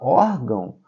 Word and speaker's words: órgão: Na palavra órgão, ó, apesar de ter o tio, mas o ão aí não é a sílaba forte, a sílaba tônica, e sim o or, que tem um acento agudo, tá?